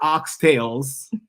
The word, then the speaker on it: oxtail: And not oxtails. Oxtail. There's no S on oxtail. Just tail. Oh, oxtail.